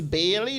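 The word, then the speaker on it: Baillie: owner name Evan um I think it's Bailey B A I L L I E I think that's how it's pronounced um please don't hold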